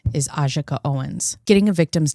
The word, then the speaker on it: Ajike Owens: Um, in this video, you're going to hear me say Aj Owens. The correct pronunciation of her name is Ajaka Owens.